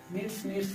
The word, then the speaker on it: kneads: तो first meaning KNEADS नीड्स मतलब आटा सानना, क्योंकि के साइलेंट रहता है इसमें।